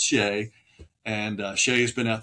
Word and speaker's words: Shea: Um, some call it Chez, right? Chez, but it's pronounced Shea.